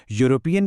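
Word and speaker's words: European: यूरोपियन की पहली आवाज यू है, जो कि एक कॉन्सोनेंट साउंड है, इसलिए सही जवाब ए है।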